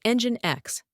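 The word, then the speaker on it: NGINX: The term LAMP is an acronym that represents L for the Linux operating system engine X pronounced as engine X, hence the E in the acronym.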